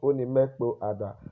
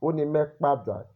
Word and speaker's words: Oni mẹ kpo Ada: Okay, to be fluent in Urhobo, Onimekpada, not Onimekpo Ada. That is the written Urhobo, how it ought to appear. But when you're pronouncing it in a sentence, it's Onimekpada. You blend the O, because when two vowels are close to each other, you are likely to silent one and blend it with the other vowel.